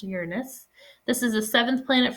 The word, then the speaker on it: Uranus: move on to uranus which is how it's pronounced uranus this is the seventh planet from the sun